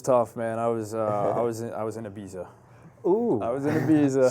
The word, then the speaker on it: Ibiza: I was in Ibiza. Ooh. I was in Ibiza. struggling. And I think they actually call it Ibiza. Ibiza. Ibiza, Yes, yeah. that's the proper way to say it.